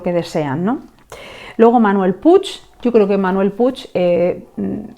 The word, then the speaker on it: Puig: protagonistas de Manuel puig Bueno puig yo creo que los argentinos lo pronunciáis pues no no a la catalana sino españolizado pues Manuel puig tiene que